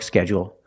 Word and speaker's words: schedule: When I say schedule, I have a dark L.